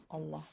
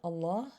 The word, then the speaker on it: Allah: ma then the lamb in the word allah will be pronounced with a full mouth meaning heavy okay this is another way to describe a heaviness of a letter it's a letter that is pronounced with a full mouth okay so if it is preceded with a letter with a letter with a kasra that has a kasra then the lamb will be pronounced with an empty mouth meaning light okay another word for